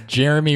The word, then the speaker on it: Geremy: how to pronounce it it's Jeremy with a G oh yeah me yeah